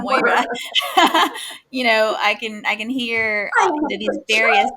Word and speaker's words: Moira: Moira.